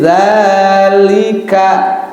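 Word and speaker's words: ذٰلِكَ: Contoh seperti ini, zalika, ya, panjang kan? Tetapi kalau dia patahnya tidak berdiri, miring, dibacanya zalika, pendek. Ya seperti itu. Karena di sini patahnya berdiri, berarti harus dibaca panjangnya 2 harokat.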